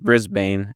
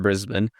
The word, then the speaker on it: Brisbane: Yeah, it's pronounced Brisbane in California, not Brisbane.